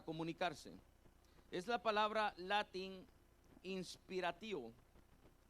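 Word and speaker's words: inspiratio: Es la palabra latin inspirativo i n s p i r a t i o acento en la o vuelvo a repetirlo inspirativo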